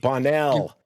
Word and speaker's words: Bonnell: Bonnell. Give it a French lilt there.